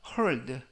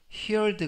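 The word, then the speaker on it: heard: 동사의 과거형 이 되겠구요 발음의 유의하실 점은 히얼 드가 아니라 헐 대 히얼 대 가 아니라 헐 대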